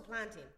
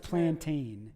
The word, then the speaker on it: plantain: So, planting plantin. Yeah. Yeah. So, there's a big thing where you plant you can't say plantain. It's not pronounced plantain.